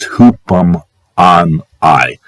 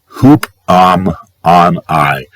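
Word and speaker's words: ὑπομονή: It's pronounced hoopum on I. Hoopum on I.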